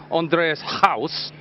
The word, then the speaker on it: Andries Gous: So when I'm saying Andreas house, is that okay?